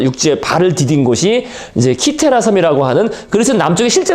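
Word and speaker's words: Κύθηρα: 그러니까 이게 키테라 또는 시테라, 그죠? 발음 이제 C니까, 그죠?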